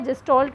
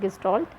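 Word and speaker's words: Gestalt: Then जेस्टॉल्ट जो है, जेस्टॉल्ट में जो जो चीज़ें रहती हैं वो मैं आपको बता देती हूँ। तो जेस्टॉल्ट में हमारा गेस्टॉल्ट we pronounce as गेस्टॉल्ट।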